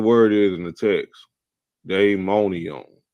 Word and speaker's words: daimonion: So Merriam-Webster, the first definition, he said DAIMONION. Hey, what's the daimonion? It's not diamond. He tried to pronounce it diamond. Throw y'all off. That's day. Diamond is DIA. This is DAI. Daimonion.